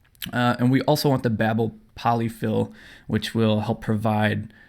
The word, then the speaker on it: Babel: official tweet from Babel j/s that it is pronounced Babel so I'm gonna be calling a Babel throughout the video and I don't want any